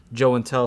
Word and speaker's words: Joe and Tell: My channel is obviously called Joe and Tell because Joey doesn't really sound as good as Joe and Tell, so it rhymes with show and tell.